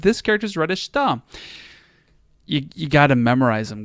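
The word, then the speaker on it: した: Anyway, chida, that's wrong. That's not how we pronounce this. Shida, no, not shida. Chita, nope. Number 4, shita.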